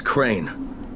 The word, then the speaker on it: Crane: no my name is crane okay crane rhymes with train and brain and same and gray and rain and plain and the other kind